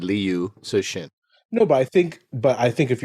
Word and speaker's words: Liu Cixin: And so, I'm going to try and pronounce his name. Hold on. Cixin. Liu Cixin.